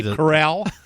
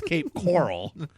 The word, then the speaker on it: Cape Coral: you can you see Cape Corell it's Cape Coral you know I'm going